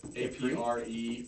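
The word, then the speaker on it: Après: A-P-R-E with the line above it and then S. Yeah. Yeah, that's Apre. Okay. That's how it's pronounced.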